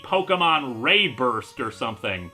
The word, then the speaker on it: RéBURST: looking at today Pokémon reburst and it's actually kind of in acccurate to pronounce it like that since it has the accented e in its name so it should technically be Pokemon ray burst or something it's a